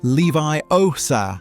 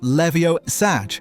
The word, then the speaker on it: Leviosa: Remember, it's Leviosa, not Levio-Sag. Pronunciation matters, or you'll end up launching a feather into someone's eyeball.